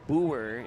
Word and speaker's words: Boer: Lexi Boer is how you pronounce that. At least that's what I was told by multiple Central Cass parents and fans. So ignore the PA announcer.